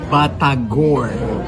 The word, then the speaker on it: batagor: Indonesian they pronounce it batagor.